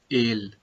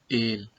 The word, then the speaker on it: el: Always remember that masculine singular noun is denoted with el and its pronunciation is ale, ale.